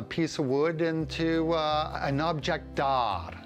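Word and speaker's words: objet d'art: of wood into an object d'art. The T is silent, it's French.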